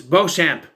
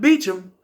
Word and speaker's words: Beauchamp: It's Beauchamp. He calls him Inspector Beecham. It's Beauchamp. You can see it right there. It's Beauchamp. I know because I watched Teen Angel. The character's name is Steve Beauchamp. Spelled the same way. It's not Beecham.